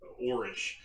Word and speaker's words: Orrorsh: I've been trying to say it Orrorsh. I think that's how it's officially pronounced. For 20 some years, I always called it Orrorsh. So if I revert to a different pronunciation, that is the reasoning.